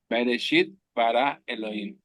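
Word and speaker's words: בְּרֵאשִׁית בָּרָא אֱלֹהִים: Bereshit bara Elohim.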